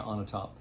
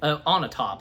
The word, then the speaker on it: Onatopp: And he beats Xenia Onatopp. Ultimately, beats her. His hand. Onatopp. That's how her name's pronounced. Even Bond had to be sure. Onatopp.